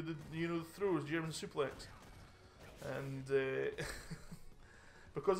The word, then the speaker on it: suplex: suplex and uh because i've never heard of the word suplex before i didn't know how to pronounce it i thought like but i've heard of the word souffle before so so i thought it was german souffle german souffle um just because i